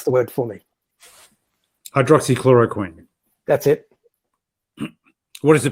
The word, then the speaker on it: hydroxychloroquine: McQueen with that long one dryer good you'll pronounce the word for me I'd Rossi chloroquine that's it what is the prospects for it